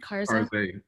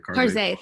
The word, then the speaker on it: Karze: I mean, I saw Karza. Am I pronouncing that right? Karze, yeah. Karze, thank you.